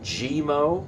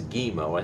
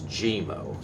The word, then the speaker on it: GeeMo: i i think it's gmo i don't think it's guimo i think it's gmo so i hope i